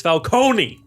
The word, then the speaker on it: Falcone: John Turturro as Carmine Falcone. Say it right, movies. It's Falcone.